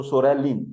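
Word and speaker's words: psoralen: Here in the Sorelin tablet, P is silent. P word is silent, is not mentioned. So Sorelin is Psoralin for the leukoderma.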